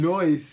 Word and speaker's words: Noyce: Noise. Noyce. C-E. That's the only way I could Noyce. think to pronounce that name. It's Like Noyce. soy.